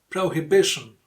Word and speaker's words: prohibition: Prohibition. Prohibition. So here the stressed syllable is B because that's the second to last syllable.